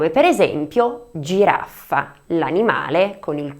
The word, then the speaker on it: giraffa: Y para terminar con I tendremos el sonido , tales como GIRAFFA (jirafa), el animal con el cuello muy largo.